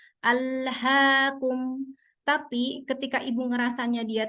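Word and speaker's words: ألهاكم: Kalau Ibu mau memastikan itu keluarnya sudah betul atau tidak, dipegang aja bagian daerah jakunnya gitu ya. Apakah sudah bergetar? Ketika dia bergetar berarti memang itu dari pita suara. Alhaakum.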